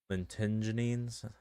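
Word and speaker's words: lentigines: He pronounces some of these names weird. Lentingines. It's like linen.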